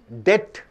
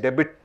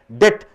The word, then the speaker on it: debt: do you pronounce dbt it is pronounced as debt you don't say debit debt the money which a